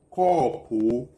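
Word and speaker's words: kɔpɔ: So in Ga, if you want to pronounce cup, you say corpo, corpo, corpo.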